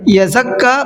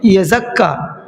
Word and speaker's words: یزکا: کو بتا رہا ہوں۔ یزکا کے اندر اکثر غلطی یہ کرتے ہیں، یزکا پڑھتے ہیں۔ میں نے اکثر لوگوں سے اس کو سنا ہے، اس کو پڑھتے ہیں یزکا، تو بھائی بچیے ان چیزوں سے۔ یزکا، زا پہ رکنا ہے، ڈبل پڑھنا ہے زا کو بھی، یزکا، یزکا۔ اب چلیے ہجے کر